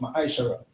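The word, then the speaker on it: מעשר: 21 and Malachi 3:8-10 which means tent in the Hebrew and it's pronounced mishara 10% of every penny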